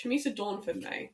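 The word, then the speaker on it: Chumisa Dornford-May: Chamisa Dawnford-May.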